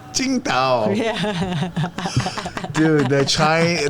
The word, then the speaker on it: Qingdao: Tsingtao. But it's spelled That's an American way to say it, but Chinese way is Qingdao. Qingdao.